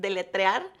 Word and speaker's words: deletrear: Deletrear. Let's learn how to spell it.